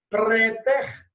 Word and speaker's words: praeter: Preter, que se escreve praeter, P-R-A-E-T-E-R, preter.